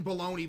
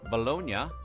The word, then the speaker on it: Bologna: In Italy, Bologna, not pronounced bologna, is primarily...